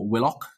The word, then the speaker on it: Willock: is sh and there Joe willick is Joe Willock um which is which is odd I think everyone pronounces it willick but never mind um